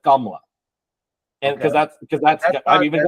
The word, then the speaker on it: Kamala: And so in my household, because we're Indian, we pronounce it Kamala, and because that's I've even got a Kamala, and I've got a Kamala in my family.